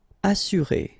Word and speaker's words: assurer: Assurer, all right, you get two vowels here, but then double S, so it should be really strong.